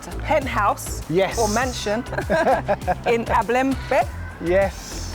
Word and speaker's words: Abelemkpe: Or mansion in Abelemkpe. Yes. Feel free to correct me if my pronunciation is. Abelemkpe, that's right.